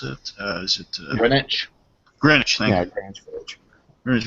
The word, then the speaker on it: Greenwich: I'm sorry, how do I pronounce it? Is it... Greenwich? Greenwich, thank you.